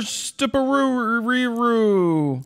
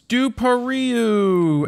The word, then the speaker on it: Stupariu: Stuparuru. You are murdering people's names. No, it's Stupariu.